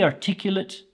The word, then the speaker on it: articulate: sentence we have here is she is very articulate and always explains her thoughts clearly in meetings